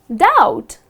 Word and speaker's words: doubt: this word it's just doubt something like d-o-u-t you do not pronounce the letter b okay next one so